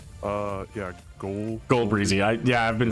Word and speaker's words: Ghoul Breezy: Yeah, Ghoul Breezy.